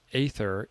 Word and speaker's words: Aether: It's I was phonetically saying it. Yes, it's Ether.